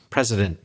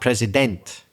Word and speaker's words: president: And in the word president, you'll quite often hear president. So too much e there in the final vowel. That's the classic schwa sound at the end of a word which isn't stressed. The part president, not president.